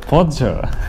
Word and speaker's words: Porsche: 越南是 Porsche。